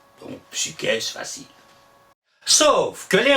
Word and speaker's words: psyché: classique, Platon et compagnie, articulaient U. Psychologue a été formé à partir du grec psyché, qui signifiait l'esprit. Et on dit bien psyché.